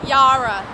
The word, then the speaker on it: Yarra: Of course, how do I pronounce? This is the Yarra River. Did I say it? No. Yarra.